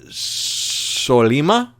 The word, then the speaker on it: Sollima: It was directed by Stefano Sollima, is how you pronounce his name, I think.